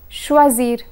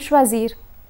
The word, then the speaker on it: choisir: in this category is choisir choisir means to choose when conjugating this verb one must pay attention to the letter S a single s is pronounced as Z while SS is pronounced as sir so here's the conjugation